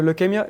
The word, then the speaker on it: leukemia: And how did you receive like the news from being like to receive like the leukemia? That's how you pronounce leukemia, yeah. leukemia.